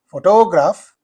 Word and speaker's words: photograph: as in this photograph, the stress is used on the first syllable.